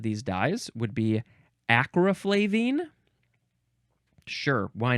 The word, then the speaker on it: flavine: else next is flake so it's flaven but we added an e at the end so the pronunciation becomes flavine now from Circa 1853